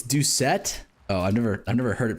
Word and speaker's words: Doucette: Bro, it's not pronounced Duchetti, it's Doucette.